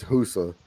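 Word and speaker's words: Fussa: uh yeah that it's it's spelled with an F but it's husa uh fousa City or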